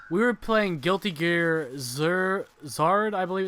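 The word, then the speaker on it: Xrd: We were playing Guilty Gear Zard, I believe it's pronounced.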